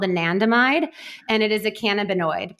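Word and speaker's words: anandamide: Anandmide.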